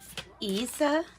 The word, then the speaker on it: isa: a line letter i pronunciation for this rune is isa yeah isa so this was isa